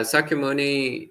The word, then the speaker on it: Sakyamuni: you just said i assume you're referring to sakyamuni so yeah sakimuni in pali is pronounced shakyamuni in sanskrit but otherwise it's the